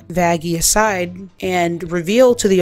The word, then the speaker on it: Vaggie: I named you after the best thing ever vagi actually it's pronounced vaggie I guess I'll just tell Little Miss butterflies